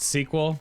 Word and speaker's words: SQL: Oh, SQL is pronounced sequel?